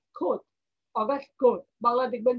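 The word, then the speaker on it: Comte: রাখতে হবে বানানটা আমাদেরকে মাথায় রাখতে হবে কিন্তু উচ্চারণ হবে কি খোদ অগাস্ট খোদ বাংলায় দেখবেন যে ক এর উপরে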